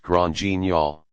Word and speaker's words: Grand Guignol: Grand Guignol is pronounced Grand Guignol. It comes from a famous horror theater in Paris called Le Grand Guignol, which was popular in the late 1800s and early 1900s.